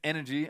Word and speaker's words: NRG: or energy NRG win it's pronounced energy apparently but eny is the spelling of the team don't worry too much